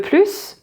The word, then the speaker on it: plus: If it is positive, you will always, nearly always, very often, pronounce the final S. For example, if someone asks you if you want more, so t'en veux plus?